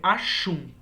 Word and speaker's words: Aksum: Na verdade, a grafia deste reino é Aksum, tá? Mas a pronúncia pode ser Ashum, tá? Como se fosse um X ou mesmo com um X.